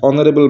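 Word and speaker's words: honourable: বলেছে Brutus is dash অনারেবল ম্যান অর্থাৎ Brutus হয় একজন সম্মানীয় ব্যক্তি তাহলে এখানে এইচ টা সাইলেন্ট অনারেবলের এইচ সাইলেন্ট বলে এখানে এন হবে অ্যান অনারেবল ম্যান এরপর টু এর কোশ্চেনটিকে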